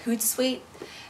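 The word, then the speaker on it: Hootsuite: I can do and that's why I like hoot sweet and it's called it's spelled h o o TS UI te and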